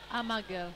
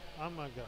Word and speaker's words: Amager: How is this pronounced, this Danish team? Amager. Amager.